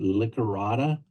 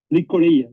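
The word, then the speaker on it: llicorella: Do I pronounce it Licorata? Licorella, yes, Licorella. Yeah.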